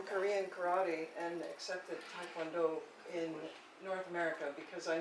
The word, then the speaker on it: Taekwondo: When I hear Taekwondo, my kids go to Taekwondo, you know, and then you go to Korea, Taekwondo, you know, which is the right way to pronounce it.